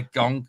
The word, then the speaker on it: Genk: Yeah, Gonk. Is it Gonk? Is it? I don't know. It's Genk. Who knows?